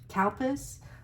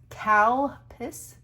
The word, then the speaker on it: Calpis: Calpis. Calpis, it sounds like I'm saying cow piss. I'm not. I think it's pronounced cow piss.